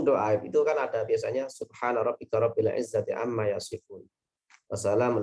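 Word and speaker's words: سبحان ربك: Yang benar kan subhana rabbika, yang benar itu ya. Subhana rabbika rabbil izzati. Kadang-kadang karena dia hanya tahu sekilas dengernya. Kemudian bacanya subhanaka rabbika. Itu salah itu. Subhanaka rabbika.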